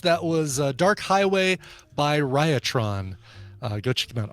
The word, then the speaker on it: Riotron: By the way, back announced, that was Dark Highway by Riotron. Go check them out. RIOT, just like you would spell it. RIOTRON. There you go.